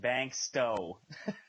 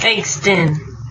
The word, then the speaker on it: Bankston: to touch base on, is it Caleb Bankston or Caleb Bankstow? I don't mean to mispronounce that. Bankston.